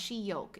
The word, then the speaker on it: Shiok: Shiok is pronounced Shiyok, is Singlish for damn good.